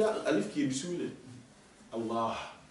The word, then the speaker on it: Allah: Allah quand on écrit Allah Alif Lam Lam ha entre le LaM et le ha vous voyez qu'il y a Alif qui est dous Allah on tire on dit pas Allah on dit Allah voilà sauf à part